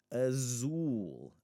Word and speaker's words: azul: The next one is the letter the word for blue. Azul. Azul. Now there are two syllables there, but it's still in that syllable that we want to pronounce as ooh.